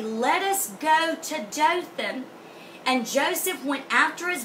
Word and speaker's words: Dothan: This word two wells is pronounced Dothan.